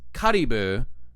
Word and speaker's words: Caribou: Caribou wait hang on I want to see how it's pronounced in Japanese uh One Piece Wiki kibu Caribou Karu okay so it's karibu in Japanese Kurio K oh my